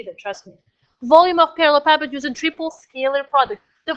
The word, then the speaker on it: parallelepiped: amazing that the sound volume so this word pronounced has parallelepipeds the volume off I will show you what